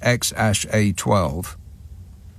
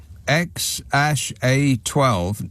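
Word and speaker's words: X Æ A-Xii: his other kids, the three with Grimes, are called XAEAXII, which apparently is pronounced XAA12.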